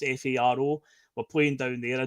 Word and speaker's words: Faro: We're going down to a city called Faro, or Faro, it's pronounced Faro.